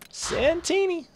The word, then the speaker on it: Santini: Santini rhymes with Martini.